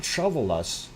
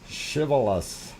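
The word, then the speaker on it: Shiveluch: No, not Shovelus. Shivalash. I wish they'd write it in Russian. I'd pronounce it properly.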